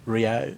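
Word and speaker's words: Rieu: Twain after that, and we've also got Andrew Rio. Am I pronouncing it right? Rayu.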